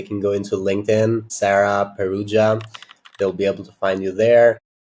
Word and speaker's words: Perugia: Normally people in this UK say Perugia. But actually, the way you've said it is much closer to how my dad says it, which is the correct pronunciation.